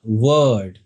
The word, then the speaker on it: word: सो the first thing first what is अ वर्ड in English language इसको हम कैसे पढ़ते हैं? वर्ड आर जो है वो बहुत कम बोला जाता है।